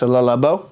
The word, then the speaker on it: Le Labo: Number 1 fragrance is pronounced Le Labo.